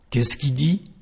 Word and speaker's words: qu'est-ce qu'il dit: So the first part of the question is just something like qu'est-ce, qu'est-ce, and instead of pronouncing the letter L of the subject, we just say qui. So the question is qu'est-ce qu'il dit?